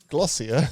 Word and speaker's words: Glossier: what does it rhyme with? Ossia. Glossier.